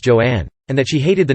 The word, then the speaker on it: Joan: She later said that she wanted her first name to be pronounced Joanne, and that she hated